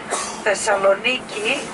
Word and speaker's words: Thessaloniki: Thessaloniki, as is the Greek pronunciation.